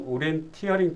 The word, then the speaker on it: 오리엔티어링: 즐기는 팀웍 프로그램은 오리엔티어링입니다 오리엔티어링 발음으로는 오리엔테이션과 비슷한 데 내용은 전혀 다릅니다 오리엔테